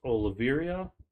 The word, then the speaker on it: Oliveira: For the lightweight bout, we have Charles Oliveira.